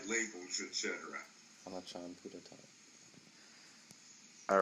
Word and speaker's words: Buddhadasa: And it would be even more credit to your point if you use the Thai pronunciation of his name, Puttatat Bhikkhu.